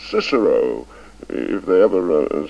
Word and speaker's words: Cicero: I admit that I I don't agree with the new pronunciation I never did a lot of nonsense in my opinion making boys say a kikaro at school when um for the rest of their lives they'll say Cicero if they ever say